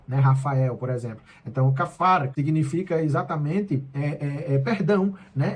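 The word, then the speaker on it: כפר: Kafar, se escreve kapar com esse P, mas quando tem aí essa bolinha acima do P, tem um som meio que de F, é como se fosse um F, um PH, né?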